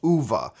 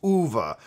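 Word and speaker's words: Uwe: it is actually pronounced Eva as if it was spelt u-v-a it's it is movable I actually sat down and chatted with the man once and he specified it's OVA movable anyway do you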